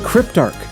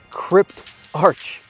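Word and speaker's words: Cryptarch: activity like going to the Crypt Arc so I finally got this figured out you're supposed to pronounce it Crypt Arch so came out here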